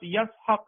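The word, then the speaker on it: יצחק: علیہ السلام تولد ہوئے۔ اسحاق یہ اصل عبرانی تلفظ کے لحاظ سے یہ لفظ یسحق ہے، اسحاق یسحق، یا صاد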